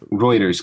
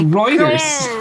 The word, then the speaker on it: Reuters: type of things Reuters Gar Reuters. It's not It's It's not Ruters. No, it's Reuters.